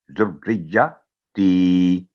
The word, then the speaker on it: ذریتی: زال, را اور یا تینوں مل کے, کیونکہ را پر تشدید ہے, پھر یا پر ذریتی, ذریتی. رب اجعلنی مقیم الصلاۃ ومن ذریتی, تو یہ ہے اس کا صحیح تلفظ.